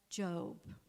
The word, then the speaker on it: Job: the Bible, it's called Job. You're going to look at it, and it's not with an E, by the way, it's spelled job, but I want you to read it.